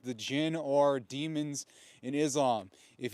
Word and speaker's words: jinn: Although the jinn is spelled D-J-I-N-N, which is where we get the pronunciation of the word genie, which is not J, G-E-N-I-E. It's the mispronunciation or the westernization of the term jinn.